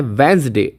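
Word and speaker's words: Wednesday: अब देखिए इसका उच्चारण आता है वेंसडे। वेंसडे, डी साइलेंट रहता है, डी का उच्चारण नहीं करना।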